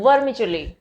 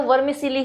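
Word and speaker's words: vermicelli: अब देखिए आप कहोगे कि मैम ये तो CE, तो ये तो वर्मिसिली होना चाहिए। नहीं, प्रोनाउंसिएशन थोड़ा सा अलग है यहाँ पर, तो इसको हम कहते हैं वर्मिचुली, राइट।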